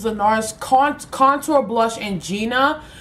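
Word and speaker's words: Gienah: Nars Contour blush and Gina but it's spelled g i e n a h I love this to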